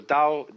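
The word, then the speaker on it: 德: laity to be initiated the next word is duh because again there's no apostrophe after the T so it's pronounced da and Jing there is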